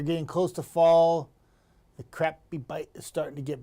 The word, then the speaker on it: crappie: You want I love the fact that you can catch crappy here. Sounds kind of weird, but that is how you pronounce it, right?